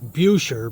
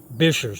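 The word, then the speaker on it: Buescher: 13-mi road that connects Bassrop State Park to Bisher State Park. I know it's look looks like it's pronounced Bucher, but it's actually pronounced Bisher.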